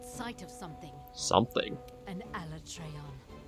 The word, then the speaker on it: Alatreon: An Alatreon. So that's how they might pronounce it. Alatreon. I was never entirely sure, but I feel like that could be the proper pronunciation for it.